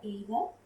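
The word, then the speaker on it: 映画: तो यहाँ पे वर्ड हमने याद कर लिया एगा। मैं ये वर्ड बोल रही हूँ तो आप ये नोटिस करेंगे कि इस वर्ड में जो ये ई है ऑलमोस्ट साइलेंट है।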